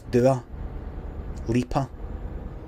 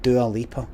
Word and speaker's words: Dua Lipa: Did we establish how to pronounce Dua Lipa? Apparently it's Dua. It's Dua Lipa. No Dua or Lipa, but Dua Lipa.